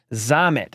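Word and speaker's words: Louis Rees-Zammit: the former rugby star the Welshman LS Rees zamit zamit he says it he tells you how to pronounce it right here it's LS ree zamit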